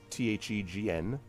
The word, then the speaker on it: Thegn: You could get a tract of land, you could get a title, which would be Thane, Thegn, with the G is silent, from the Bardings.